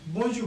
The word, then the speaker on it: Bonjour: greetings okay b b b we will not pronounce are here okay Bon B Bon okay bonu bonu means good morning good good morning okay